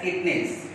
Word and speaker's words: Chitnis: The name of the grandmother is Alpana Kitnis. Chitnis. You will pronounce it as Kitnis.